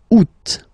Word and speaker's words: août: And then here, two options, because, two options are acceptable in French. The first one, you don't pronounce the final T. Ou. Second one, you pronounce it août.